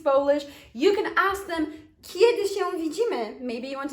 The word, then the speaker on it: kiedy: Notice it's quite soft. Kiedy. Kiedy. It's a soft sound. So phonetically, the way we construct it, it kind of sounds like the Polish J letter. Y, okay? J, Y, because we say kiedy.